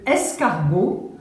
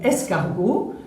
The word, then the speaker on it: escargot: se prononce TE, mais dans ce mot escargot, ce T est un T muet, donc ce T, on ne l'entend pas.